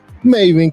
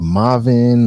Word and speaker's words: Maven: Or is it like Marvin? Nope, Or it's is it? Maven.